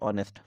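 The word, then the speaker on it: honest: पर एग्जांपल के लिए ऑनेस्ट हम लोग इसको ऑनेस्ट पढ़ने हैं इसलिए हम लोग साइलेंट मानते हैं तो इसका साउंड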